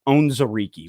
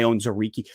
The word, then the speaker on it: Onwuzurike: But I believe his last name is pronounced Onwuzurike.